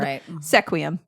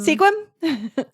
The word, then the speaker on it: Sequim: another one that is commonly pronounced because it is spelled sequum sequum Sequim Sequim squim and last but not least the 26th foot